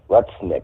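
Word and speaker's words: Lutnick: this um Howard Lesnik letnik I believe it's pronounced he's a economic senior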